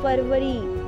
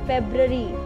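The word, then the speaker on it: February: फेब्रवरी, इट्स नॉट फरवरी, इट्स फेब्रवरी।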